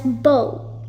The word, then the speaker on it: bow: The first one, you pronounce it as bow, as in bow and arrow.